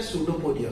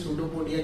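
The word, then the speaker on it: pseudopodia: Spelling P silent होता है, फिर सूडो लिखे फिर पोडिया लिखे, टेक्स्ट बुक में आपको मिल जाएगा, आप रीड करें उसको, तो ठीक है। उसका सूडोपोडिया होता है।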